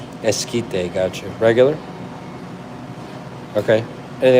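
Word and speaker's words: esquite: Eskite. The Q. The Q is silent. Eskite.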